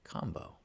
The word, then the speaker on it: Kambo: And just because I don't think we said it on the show, but combo is spelled Kambo, even though it sounds like combo.